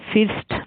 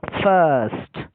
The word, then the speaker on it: first: FIRST, এটা ফিস্ট না হয়ে ফার্স্ট হয়ে উঠলো।